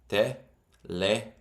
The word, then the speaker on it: teléfono: It's not teléfono. Second last syllable would be this. Teléfono. 4 syllables. The rule was second last syllable is where you put the emphasis, which is this one. Teléfono.